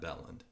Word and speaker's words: Belland: it again so so 99.9% of the world would pronounce that beland that's how I say it yes and you should but my for whatever reason everybody in my family pronounced IT band so okay so I've